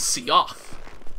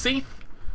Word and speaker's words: Seath: but he told me, because I always pronounced, this dude's name is Seoth, because hey, it's got an A in there, right? Clearly that A has some point. Nope! His name is just Seath, apparently, it's just Seath, and